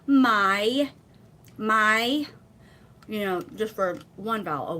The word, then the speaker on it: mai: My. So it's sort of like two syllables, but it's so fast.